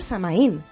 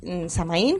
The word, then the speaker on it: Samaín: en Galicia se llama samaín pero que se llama así y ajeno a la cristianización O sea samaín con acento en la i sin h por medio Vale entonces yo pienso